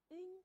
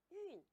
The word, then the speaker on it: 晕: 们可以给它组词，晕倒，晕头转向。它还有一个读音念运，日运，月运。